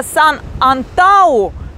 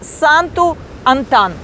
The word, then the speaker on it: Санту-Антан: То есть пишется так, читается вот так. И еще читается именно по-русски вот так. Поэтому я вчера говорила Сан-Антау, а сегодня я должна говорить Санту-Антан.